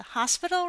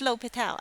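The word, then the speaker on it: L'Hôpital: Now today we are going to talk about L'Hopital's rule, which is a favorite among calculus students. We often, in my past, we often call it the hospital rule, but it's actually pronounced L'Hopital, I guess.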